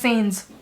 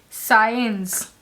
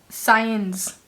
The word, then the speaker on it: Sáenz: It took me a while to pronounce this because I used to pronounce it as Sainz or Alir. So I went to YouTube, I tried to look up these names, and I finally hit on the right pronunciation. It is Benjamin, which we know it's a pretty common name. Benjamin Alire Science.